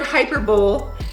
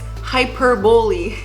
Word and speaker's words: hyperbole: they said oh joss the word hyper bowl is pronounced like this hyperbole yeah you're gonna realize